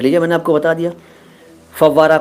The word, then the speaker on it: फव्वारा: अगला शब्द है फव्वारा। फौहारा कहते हैं कई लोग, फुहारा कहते हैं, सही शब्द है फव्वारा।